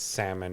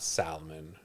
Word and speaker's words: salmon: there's like salmon that, and by the way, it's salmon, not salmon.